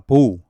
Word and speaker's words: bow: 푹 숙여서 하는 그런 거를 바울 로우를 하는데 이게 이제 보우라는 발음도 있습니다. 보우. 보우 하면 이건 활입니다.